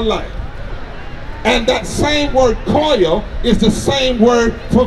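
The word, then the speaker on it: קול: In Hebrew, the word for vote is koil. It's spelled K-O-L, but it's pronounced Q-O-L, koil.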